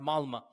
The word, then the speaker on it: Malmö: is spelled with an O, but it's pronounced Malmö.